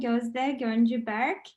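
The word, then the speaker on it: Gözde Göncü Berk: introduction, Dean Kelman, and also excellent job in pronouncing not only my name, but also both of my last names. Yes, I am Gözde Gonju Berk, and I am passionate about pushing the boundaries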